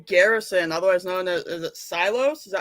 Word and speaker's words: Silos: with uh Ray Garrison otherwise known as a silos is that how you say it yes yes